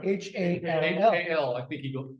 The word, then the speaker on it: Hal: H-A-L-L, H-A-L, I think he goes, H-A-L, but it is pronounced Hall.